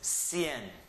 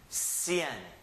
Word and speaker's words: cien: noventa no vinda and the last number is cien cien one syllable CN hey excelente now